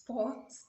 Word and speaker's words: sports: is gotten from french please make sure you pronounce the t in english except you're speaking french so it's sports in english although it's